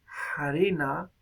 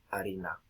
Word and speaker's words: harina: generalizado entonces aquí tenemos en latín una palabra como farina que llega a apreciarse harina y después desaparece por completo harina también se hace primero